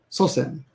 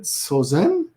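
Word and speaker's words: 祖先: Sosen, senzo, sosen, senzo. And I'm often forget when to pronounce when the S changes to a Z. I sometimes think, is it sozen? Right? No, it's sosen, SS, and senzo.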